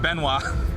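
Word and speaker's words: Benoit: Uh Benoy. Bennett. Benoy. I can't read. Benoa. Benoa. T is silent.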